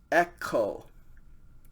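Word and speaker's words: ἔχω: this present tense the the dictionary form is echo okay epsilon with a smooth breathing mark t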